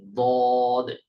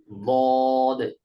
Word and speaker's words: ضاد: উপরের মাড়ির দাঁতের গোড়ার সাথে লাগবে, উচ্চারিত হবে দদ। একজন একটু উচ্চারণ করেন তো প্লিজ, দদ।